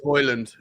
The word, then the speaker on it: Højlund: Hajlund, how do you say his last name? Rasmus Højlund.